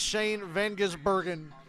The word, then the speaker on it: Shane van Gisbergen: aboard the Shane train and yes I can pronounce his name now it's Shane Van gisbergen oh first driver since 63 to win their